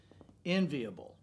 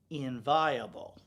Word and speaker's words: enviable: a list okay so the word was enviable but she said the word is inviable and the child looked